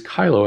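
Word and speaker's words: cheilo: And the way you pronounce it is Kylo, as in Kylo Ren, the character from Star Wars.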